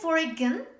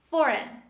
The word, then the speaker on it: foreign: next example foreign foreign don't say foreign this is foreign save is me foreign foreign the next example cyan